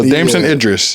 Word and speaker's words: Damson Idris: Yeah, Damson Idris.